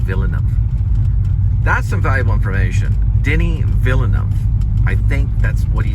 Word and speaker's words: Denis Villeneuve: his own way, but Denis Villeneuve, I think, is what I'm hearing. Villeneuve. And I have to remember that, Denis Villeneuve. But when you read it off the page, watch out. It won't come off as that. It looks different.